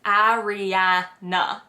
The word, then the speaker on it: Ariana: but since you asked the way that it is pronounced is ariana so the first two a's are like a as an apple ariana yeah that's how